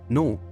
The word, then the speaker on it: know: Moving on to know, the silent K hints at the knowledge we possess, often sparking those lightbulb moments.